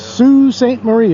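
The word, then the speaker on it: Sault Ste. Marie: out there Watchmen if you look up how it's spelled but it's Sue Saint Marie is the way they pronounce it and uh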